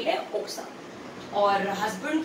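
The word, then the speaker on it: 奥さん: और अगर मुझे वाइफ की बात करनी है तो ओक्सा, ओक्सा। नॉर्मली हम यू को नहीं प्रोनाउंस करते, वो साइलेंट ही रहता है, तो ओक्सा।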